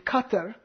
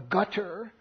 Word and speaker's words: Qatar: He's referring to Al Jazeera, which is an Arabic language satellite network that is based in Qatar, or Gutter, as it's also mispronounced.